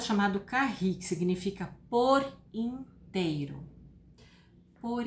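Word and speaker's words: Kahi: Carri se escreve K-A-H-I.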